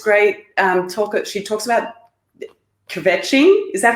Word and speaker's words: kvetching: She talks about kvetching.